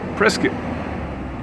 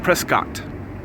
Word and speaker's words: Prescott: corrected me last year he said it rhymes with biscuit presc not Prescott I know you know me Southern boy I know what a biscuit is I can remember biscuit so not Prescott Prescot but I've stayed here